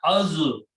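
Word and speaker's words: الظالمين: So it becomes, when you pronounce, then this pronounced as mina, az-zalimina, al-zalimina, but when you pronounce together, az-zalimina, lam goes away because za is a shamsi letter.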